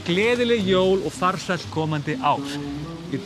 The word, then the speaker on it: Gleðileg jól: Gleðileg jól. Sounds actually like leiðileg jól. If you say it really quickly, you can actually. It sounds like that.